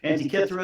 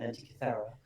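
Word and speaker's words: Antikythera: Depends how you pronounce it now, but Antiithra is how we pronounced it. Uh you know, if you're an Indiana Jones fan, it's uh Antither.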